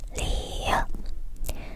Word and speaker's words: 리을: hãy lặp lại lần nữa 기역 니은 디귿 리을 미음 비읍 시옷 이응 지읒 치읓 키읔